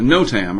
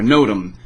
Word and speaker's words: NOTAM: Airmen or whatever but a no Tam or a nodem so it just depends on how you say it you call a special